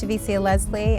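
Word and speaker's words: Javicia Leslie: how to say her name my name is shavisia leslie i'm on batwoman chevisia leslie chevisia leslie chavisia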